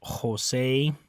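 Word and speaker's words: José: in Spanish the J the letter J always makes a an English H sound okay it's always a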